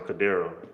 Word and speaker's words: Cadero: I think that's how you pronounce it. Cadero. You said it right the first time, Cadero.